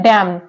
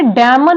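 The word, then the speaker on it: damn: है next word है डैम अब इसे डैमन नहीं पढ़ते हैं क्या पढ़ते हैं डैम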